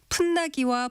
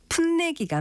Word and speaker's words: 풋내기: 인정하지 않는다는 규정이 있습니다 그렇다면 경험이 없어서 일에 서투른 사람을 뜻하는 것은 풋나기 풋내기 중에서 어느 것이 맞을까요 이때는 아지랑이는 달리 풋내기가 맞습니다 풋내기의 경우는 동화가 적용된 형태를 표준으로 삼고 있는데 풋내기 외에도